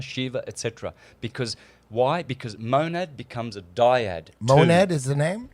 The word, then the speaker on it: monad: The Godhead, God, is a monad at the top.